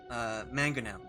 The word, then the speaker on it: mangonel: the stern has a mangonel.